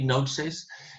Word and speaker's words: gnosis: The word gnosis, we don't pronounce the G really. Gnosis is the Greek word for knowledge.